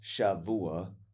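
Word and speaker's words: שבוע: I believe it's pronounced Shavua with a V, a hard V.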